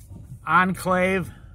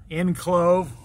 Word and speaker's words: enclave: Nye Beach is a bit of a hippie enclave, enclove, depending on how you say it.